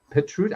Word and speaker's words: Petrut: add to that more her name is petrut I forgot to ask you the pronunciation of your name did I get that